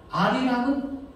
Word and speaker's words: 알이랑: 아리랑은 니을이 다음 문절에 첫소리로 발음되니까 아리랑 이렇게 발음을 하죠.